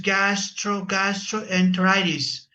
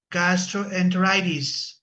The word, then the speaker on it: gastroenteritis: Uh the pronunciation is gastroastroenteritis. Gastroenteritis.